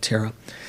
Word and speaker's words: Thera: That's just the Pali way of pronouncing it, Thera.